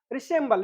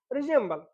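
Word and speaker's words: resemble: हैं रिसल ठीक है कुछ लोग इसे रिजल भी पढ़ते हैं ठीक है देर इज नो प्रॉब्लम इसे कहेंगे रिजल मैच मतलब कि जब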